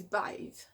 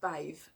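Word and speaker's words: Badb: all um obviously the crone for morrigan is bathe it's spelt bagged but it's pronounced bathe and she is the crown aspect of the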